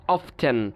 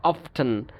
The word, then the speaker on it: often: বাট যেমন এই যে often এরকম উচ্চারণ করা হতো often, ঠিক আছে। বাট মডার্ন ইংলিশে এই জিনিসটাকে চেঞ্জ করা হয়েছে, কারণ কি, মডার্ন ইংলিশ স্পিকার্সদের কাছে মনে হয় এটা একটা ওকার সিচুয়েশন, এটা উচ্চারণ করতে এক্সট্রা এফার্ট দিতে হয় বা কষ্ট হয়, যার কারণে কি করেছে মডার্ন ইংলিশ স্পিকার্সরা এই জিনিসটাকে চেঞ্জ করে ফেলেছে।